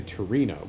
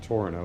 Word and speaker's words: Tornio: let's get up to I would say Torino but that's I guess that's more of the Italian pronunciation so it's probably more like torono or Torino or something but we'll get up